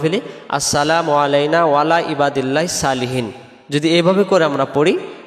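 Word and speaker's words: صالحين: উপরে, ইবাদিল্লাহিস আল্লাহর বান্দার, সলিহিন নেককার বা সৎ, সলিহিন শব্দের অর্থ হলো নেককার বা সৎ। তাহলে এটাকে আমরা সালিহিন পড়ব না, উচ্চারণ করব কি আমরা সলিহিন, আবার হিন টান দিব।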